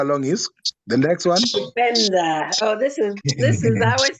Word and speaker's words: kupenda: Kupenda. Oh, this is. I always think of this as your word, Sister Valerie. Kupenda. Yeah. At least you pronounce it well. Yeah, it's kupenda.